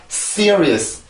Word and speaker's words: serious: serious, serious, serious. 다시 한번 serious, serious, serious. 자, 이렇게 해서 이 단어를 발음을 해요.